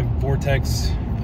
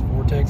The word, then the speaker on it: Vortex: But yeah, the Weatherby loves that 180 grain TTSX Barnes Vortex ammo, V-O-R-T-X. I think it's Vortex is how it's pronounced.